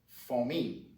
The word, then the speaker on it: famille: We're going to start off today with family, which is pronounced famille.